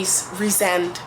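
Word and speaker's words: Rhysand: character I like re resend is apparently how you say it reent Reese not rise and Reen it's so weird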